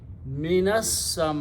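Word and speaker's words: مِنَ السَّمَاءِ: You do not pronounce this alif. Combine noon with the sin. Minas sama'i.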